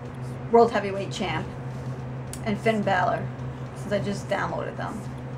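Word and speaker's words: Bálor: his last name wrong I always want to say Balor I think it's like Baler I always say it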